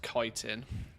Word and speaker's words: chitin: Well, apparently it's actually pronounced chitin, which is the first, or at least if you like run it through Google, Google says it's pronounced chitin. It's a K rather than a C.